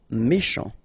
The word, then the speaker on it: méchant: Final T not pronounced. Then CH, sh, chant, méchant.